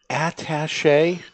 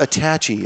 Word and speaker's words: attaché: Attaché? Is that how you pronounce it, really? With the at being attaché. Attaché? It's not attachy, as some people say, yeah.